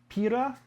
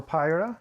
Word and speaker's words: Pira: Alright guys, this here is Pira, or Pyra, depending on however you want to pronounce it.